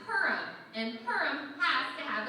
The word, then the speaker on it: Purim: Purim? It's pronounced Purim.